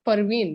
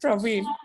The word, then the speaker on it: Parveen: He reminds me saying that, hey, it is not Praveen, it is Parveen.